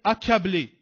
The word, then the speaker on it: accablé: De C qui se succèdent, on va dire accablé. accablé euh accaparé. Donc ici, c'est de C qui se succèdent mais qui se prononcent K.